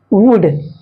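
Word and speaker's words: would: एल साइ होता है जैसे कुड वुड है ना यहां पर एल साइलेंट है यहां पर भी एल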